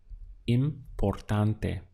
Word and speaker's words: importante: To express the word important would be importante. Let's count the syllables. We have im, por, tan, te. Importante.